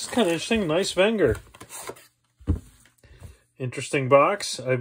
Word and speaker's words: Wenger: this all right let's watch this video technically pronounced wenger the company dates back to the late 1800s